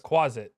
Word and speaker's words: quasit: called again Quai something what quasit quasit like closet but quasit yes can I get